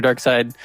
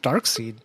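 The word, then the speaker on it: Darkseid: oh i get it i bet you were saying it right first and then went across the executive table and they're like dark seed we can't call someone dark seed jesus and they just change the way you pronounce it that's jesus why did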